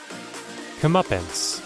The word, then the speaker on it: comeuppance: day am I pronouncing it right comments comeuppance comeuppance okay that's how you pronounce it comeuppance thanks Benny I'm learning things